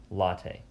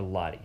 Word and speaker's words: latae: something known as the tensor fascia latte okay or Lottie however you want to pronounce it so this tensor